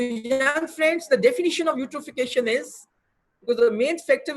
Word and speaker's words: eutrophication: The main pollution in water is classified under the heading of eutrophication. Spelling is correct and E is silent.